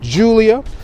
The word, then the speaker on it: Giulia: of stuff we have the name pronounced julia we do have the